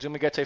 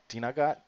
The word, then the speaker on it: Dumaguete: It's Dumaguete or Dumaguete? Dumaguete? They usually pronounce the middle, they stress the middle syllable, which is an hour or two from Surigao City.